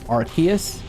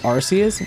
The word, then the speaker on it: Arceus: Also, I know Arus is pronounced Archus, but I don't care. I'm going to say Arus because the reason they didn't want to call it Arus was because they didn't want to say the